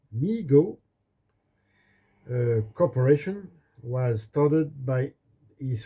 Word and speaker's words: Mego: Mego, pronounced Mego, Corporation was started by